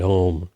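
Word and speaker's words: ॐ: Entonces, lo que se representa como una M en realidad no es una M. Se llama Anushvara, no es una letra, es la nasalización del sonido que veníamos pronunciando antes, ¿no? Si el sonido es la O, es la nasalización de la O.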